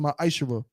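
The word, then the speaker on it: מעשר: Means tenth in Hebrew, and is pronounced ma'ashera.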